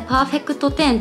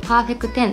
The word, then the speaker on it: Perfec10: これ結構間違えてパーフェクトテンって読んじゃう人が多いみたいなんですけど、パーフェクテンっていう